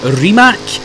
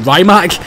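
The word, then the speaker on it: Rimac: the remac concept one I believe it's how you pronounce it as remac because I know everyone calls it ryac but the guy himself in a couple of salamand videos says it is remac so actually really really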